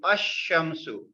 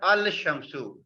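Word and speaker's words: الشمس: The letter Lam is not pronounced. We don't pronounce Lam. After Alif, we pronounce the Sheen, Ash-Shamsu. The correct pronunciation is Ash-Shamsu, not Al-Shamsu. We cannot pronounce it Ash-Shamsu.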